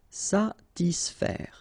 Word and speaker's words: satisfaire: Okay, so satis, and then remember A and E together will produce the sound E, so faire, satisfaire, satisfaire.